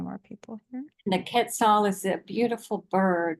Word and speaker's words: Quetzal: Maybe Michelle, you can help me with the pronunciation of this. Quetzal.